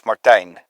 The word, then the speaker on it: Martijn: Is it Martin? No. You could call me that, but actually it's Martijn. Martijn? Yeah, it's way cooler. That's way cooler Martijn. Martijn. And I'm sure I'm saying it wrong because the American ear apparently cannot hear anything European and say it properly. I think we had like 5 million times tried to say Schwartz. Yeah, Martijn. Just say Martijn. Just like I think time, okay.